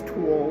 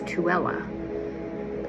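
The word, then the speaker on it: Tooele: He's been here once before and it's spelled t o e l e and most people think it's tulle or you know they butcher it but it's tuella.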